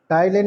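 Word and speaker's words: ptyalin: टाइलिन में P silent है, PTYLINE।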